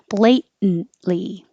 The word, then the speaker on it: blatantly: drinking beer and blatantly this is where the um late this tea is going to disappear we're dropping the a completely and we're using a syllabic in so when your tongue goes up for the T for the blate hold it there and just go blatantly blatantly and even the